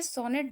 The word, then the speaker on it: sonetto: एक Italian word से ये सोनेट डिराइव हुआ जिसका नाम है सोनेटो. स्पेलिंग को बहुत ध्यान से देखिएगा, SONETTO. ठीक है, इटालियन वर्ड में इसको सोनेटो बोलते हैं, इसी से सोनेट डिराइव हुआ है.